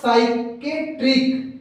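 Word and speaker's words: psychiatric: बताया जा रहा है, साइकोलॉजी और साइकेट्रिक। दोस्तों यहाँ पे ध्यान दीजिए, हमारा एस वाई पढ़ा जा रहा है, जबकि दोनों में हमारा पी साइलेंट हो जा रहा है। पी को हम पढ़ ही नहीं गए हैं।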